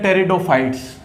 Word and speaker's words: Pteridophytes: के, जो कि है टेरिडोफाइट्स। तो टेरिडोफाइट्स के बारे में आपको ज्यादा नहीं पढ़ना, बस आपको इतना याद रखना है जो हमारे टेरिडोफाइट्स होते हैं इसमें पी साइलेंट है।